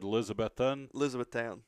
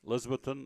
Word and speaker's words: Elizabethton: Put the emphasis on the second syllable. Oh. He said, what about Elizabeth? See, he said Elizabethton. Elizabethton or town. I said, no, it's Elizabeth. And you put in that second out of the 3 syllables.